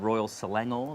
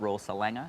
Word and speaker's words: Royal Selangor: bring them right in fastest on the right syllable is uh very important too um good old royal selangor the nice glassware not raw salanga as i said i think the first show